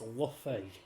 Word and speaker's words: Luffy: Bobby or Bobby Bobby so it's Luffy it's Luffy it's Luffy it's Luffy that's the way they say it in in one piece in Japanese and they also say